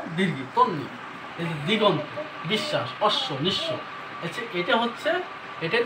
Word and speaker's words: বিশ্বাস: দীর্ঘি তন্নি এইযে দিগন্ত বিশ্বাস অশ্ব নিশব এটা হচ্ছে এটার নিয়ম হচ্ছে যদি শব্দের শেষের অথবা মাঝখানের বর্ণের সাথে যদি বফলা থাকে তাহলে সেই বর্ণটা সরাসরি দুইবারের উচ্চারিত হবে কিন্তু ব ফলার উচ্চারণ নাই সেই বর্ণটা কোনটা আছে